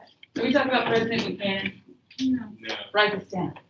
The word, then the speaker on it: Buchanan: It's spelled like Buchanan. There's a CH in there. Buchanan. Okay, but it's Buchanan.